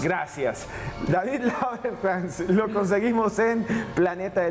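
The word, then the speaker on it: Lagercrantz: ¿Cómo se pronuncia? Lagerkrantz. Gracias. David Lagerkrantz, lo conseguimos en Planeta de Libros, en cualquier librería.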